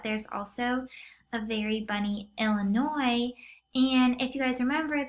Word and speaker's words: Illinois: of the state of Illinois and how it's spelled it's such a funny way of spelling something because there's a silent S on the end Illinois and then